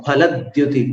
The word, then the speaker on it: फलद्युति: जो अपन हिंदी में फ बोलते हैं ना, तो ऊपर के दांत और नीचे के होंठ से बोलते हैं फ, लेकिन यहाँ संस्कृत में आपको दोनों होंठ मिलाकर फ बोलना है। मुक्ता फलद्युति, मुक्ता फलद्युति मुपैति ननूद